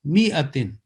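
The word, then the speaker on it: مِائَةٍ: This alif will also be that ignored altogether, and the pronunciation will be mi'atin, thalatha mi'atin sinina.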